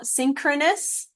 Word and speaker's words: synchronous: way so for example synchronous the CH has a k sound typically but the phonetic